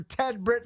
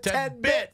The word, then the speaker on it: Ted Britt: Well, and you that left out a critical letter. You were doing spots for Ted Britt Ford, and you called it Ted Bit Ford.